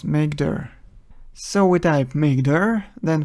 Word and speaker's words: mkdir: creating folders in Linux we use mkdir command which is usually pronounced as makeer so we type makeer